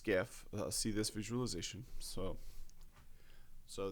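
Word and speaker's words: SCIF: supply chain all research Personnel working from a skiff um so this should be familiar to people in United States cuz this was in the news a lot uh sensitive compartmentalized information uh facility pronounced scaf see this visualization so so this yeah so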